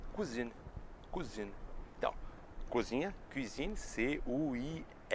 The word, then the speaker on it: cousine: E prima é cousine.